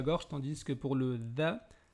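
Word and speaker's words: ذ: tandis que pour le dha, on sent une forte vibration au niveau de la gorge, due au fait que l'air ne circule pas librement.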